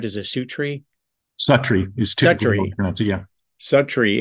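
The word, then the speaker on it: Suttree: of God and then in 1979 am I pronouncing this right is a su tree Sury is yeah Su tree and uh you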